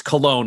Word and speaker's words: Colon: Also, it's spelled colon. I think they're trying to keep it fancy, but it's Cologne is how they officially pronounce it.